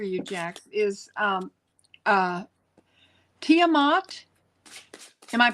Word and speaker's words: Tiamat: Uh, the first card that came out for you, Jax, is um, uh, Tiamat. Am I pronouncing that right, Heather? Tiamat. Tiamat.